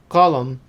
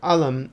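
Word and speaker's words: قلم: as a or ga take a look at the word colum which is the word for pen and in levantine arabic would be either alam or galam another difference is that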